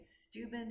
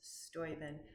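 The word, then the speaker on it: Steuben: And the answer to that is Baron von Stoven. I had been pronouncing it stuben. It's Stoen.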